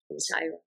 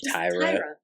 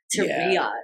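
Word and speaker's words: Tyria: never pronounce her name Tyra Tyra I don't know why I call her because spelled weird it's like t y r i a like teria but it's not said that way Tyra her parents over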